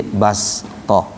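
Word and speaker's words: بسطة: Kalimat basta, keterangannya sin kecil yang berada di atas huruf shad pada kalimat basta menunjukkan bahwa shad dibaca sin, bacanya di basta.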